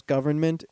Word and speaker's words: government: a condom oh uh when I found out there was an n in there and then I found out how to actually pronounce government you got to hit the N yeah you have to